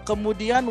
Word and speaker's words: kemudian: So for kemudian we have kemudian four syllables, right?